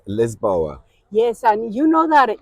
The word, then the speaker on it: Lisboa: And as the locals say it, Lisboa.